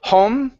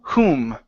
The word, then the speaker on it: whom: whom okay right here instead of home it's ooh whom whom whom uhhuh very